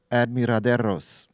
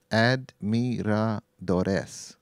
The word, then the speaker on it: admiradores: And so apropos that I give you the close to the real pronunciation, thanks to Minnie. Admiraderos. No. Admiraderes. Admiradores. How's that?